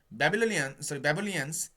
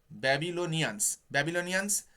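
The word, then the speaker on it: Babylonians: ব্যাবিলিয়ান্স, আমি উচ্চারণ ভুল বলছি গো, ব্যাবিলনিয়ান্স road astronomical observations on bricks of clay.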